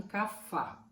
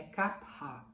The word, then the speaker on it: Kapha: Os Kappas, ou Kapha, porque escreve com PH, então aqui no Brasil tem gente que fala em Kapha. Na Índia é Kapha, é assim que fala a pronúncia correta.